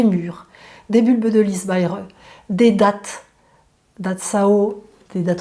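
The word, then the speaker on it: Bai He: de pharmacopée chinoise, et ça s'appelle Baire. Ça s'écrit B-A-I, plus loin H-E, Baire.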